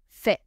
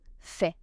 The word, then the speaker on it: fais: Je fais ends with letter S. Silent S. Je fais tu fais roule tu